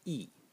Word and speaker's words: 意: and it is pronounced yi. Yi in the fourth tone, pinyin yi, and the mark for the fourth tone.